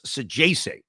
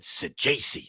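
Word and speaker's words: Saggese: And the shortstop, Thomas Sajese, is how you pronounce it. And I know that for sure because I think I was sitting near the Sajese family. I don't know. They really loved him. And I asked, I said, by the way, how do you correctly pronounce this guy's name? And they said Sajese.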